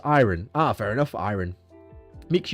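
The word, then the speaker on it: ayran: It's pronounced iron.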